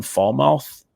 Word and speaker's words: Falmouth: They play against, so this is a Massachusetts school where I don't really know the pronunciation of this one. Falmouth.